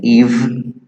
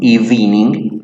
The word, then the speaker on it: evening: So here's the sound, the pronunciation in parentheses, subtle, no, subtle, okay, the silent E in evening, so we have the evening, no, evening, like many people say.